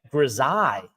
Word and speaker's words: grisaille: Grisaille. Wow. Boy, have I been saying it wrong for a very long time.